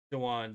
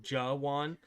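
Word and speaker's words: Jawaan: Jawan, there. I was close. I think I said Jew with the J-U instead of Jawan.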